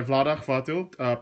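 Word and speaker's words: Vlaada Chvátil: Designed by Vlada Hvatil, published by Czech Games Edition. Yes, that's how you pronounce his name.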